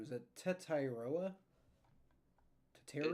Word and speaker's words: Tetairoa: How do you pronounce his name? Is it Tetairoa? Teteria? It's Tetaroa.